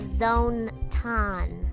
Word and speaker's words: Zonton: Between her mascot Zonton, it's pronounced Zone-ton, and the wildly popular